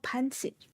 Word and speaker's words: pancit: Oh, pansit. Ah, okay. Pansit. C's generally pronounced with S, and then it's S and SH.